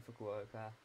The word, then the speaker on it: Fukuoka: We're taking a little stop over here in Fukuoka.